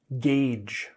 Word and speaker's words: gauge: We pronounce this word gauge.